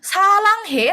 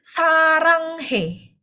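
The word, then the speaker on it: 사랑해: Kalau dia posisinya di depan itu bacanya R. Mungkin teman-teman di sini sering lihat sarang he ya. Sarang he di sini L-nya kan posisinya di depan ya teman-teman. Makanya di R bukan L bukan salang he tapi sarang he.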